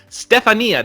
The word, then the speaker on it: Stefania: It's Stefania. No, Stefania. Stefania, that's how you pronounce her name.